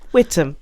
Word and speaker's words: Witham: It was Witham, in fact. We pronounce it to you Witham.